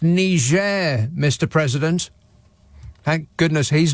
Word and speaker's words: Niger: better luck next time it's pronounced Niger Mr President thank goodness he's not the president right now oh shut up an international incident could ensue Niger Mr President Rose Tex